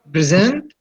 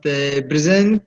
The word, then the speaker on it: present: I'm sorry, but present, the first one is stress on present or on us at this moment or right now, and the second one is stress on the second syllable.